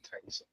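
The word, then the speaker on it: Taissa: Like, am I pronouncing her name right? Yeah. Taisa.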